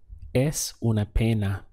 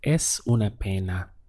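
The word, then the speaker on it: es una pena: shame it would be s ona pana es una piña it looks like it's a pain meaning it's a shame s ona pana once again how do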